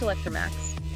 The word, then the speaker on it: Electromaax: It's pronounced Electromaax.